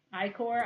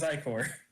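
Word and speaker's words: ichor: and again and again I core I don't know it's pants I told me it was i4 actually it's pronounced i core now I think it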